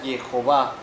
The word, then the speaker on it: Jehová: Entonces, el nombre original de Dios en hebreo es solamente uno y se pronuncia Jehová.